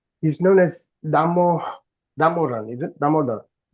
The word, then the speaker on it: Damodara: you said he's known as Damodaran, is it? Damodar. Damodara, yeah.